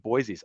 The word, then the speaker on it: Boise: prices so i think boise's awesome and i'm saying it wrong it's boise i think boise is awesome